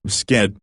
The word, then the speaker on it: skit: Skit, it's pronounced with a hard I in Swedish, not like a comedy skit though, means shit.